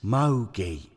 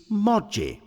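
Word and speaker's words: Moggi: this Mogi buyer character you're mispronouncing his name Bill it's Moji by it it's Mogi as in bogeyman which by the way tells you something it's Moji bill as in dodgy which tells you the truth like many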